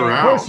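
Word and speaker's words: Arauz: Let's go with Arouse.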